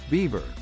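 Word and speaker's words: Biewer: Though it bears no resemblance to the beaver, Bewer is pronounced beaver.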